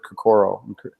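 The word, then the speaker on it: 心: And that whole idea of merging your heart and mind is behind the word kokoro, or kokoro is how the Japanese pronounce it.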